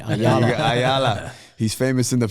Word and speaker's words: Ayala: Ayala.